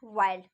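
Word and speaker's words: Wilde: बहुत बच्चे Oscar वाइल्ड को ऑस्कार विल्ड पढ़ते हैं, वो बिल्कुल गलत प्रोनाउंसिएशन करते हैं, क्योंकि आपको पता होगा कि ऑस्कार वाइल्ड होता है, ना कि विल्ड होता है।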